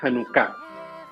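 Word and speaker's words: Janucá: ahora datos interesantes de hanuka primer punto No es hanuka oficialmente en español se dice hanuka Sí esa es la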